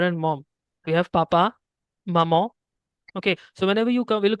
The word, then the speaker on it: maman: so here we have maman, not mamon. Maman. Okay. While pronouncing, your tongue won't be touching the upper palate. There'll be a nasal voice, maman, at the end.